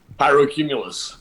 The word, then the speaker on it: Pyrocumulus: How do you pronounce the name of it? Pyrocumulus. Pyrocumulus.